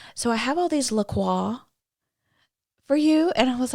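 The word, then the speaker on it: LaCroix: that's so fantastic so it really is a French word I mean it's l a like he said it right yeah c r o iix but like nobody said says laqua like how bougie do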